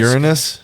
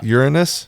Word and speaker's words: Uranus: and europa's from uh i'm gonna i'm gonna say this uranus yeah uranus yeah that's how you say it when you don't want anybody to make the uranus joke gotcha yeah just go uranus uranus even though it still sounds like urine you know oh no